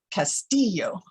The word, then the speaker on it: Castillo: it's often mispronounced castillo it should be pronounced castillo with the accent on the center syllable and the two ills are silent you say to yourself why would that be well let's think about it you don't say tortilla do you oh i hope not